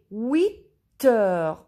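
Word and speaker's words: huit heures: Il est 8 heures. We listen T and H is silent.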